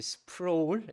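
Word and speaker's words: Sproul: RC 스프로울 한국말로는 그렇게 하는데 영어로는 스프라울 이렇게도 합니다.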